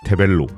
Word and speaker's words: 테벨로: 테벨로, 누구든 타벨로라고 읽지만 놀랍게도 지들도 타벨로라고 읽는 주제에 테벨로로 읽어야 맞다는 중국 로드 자전거 제조회사가 있다.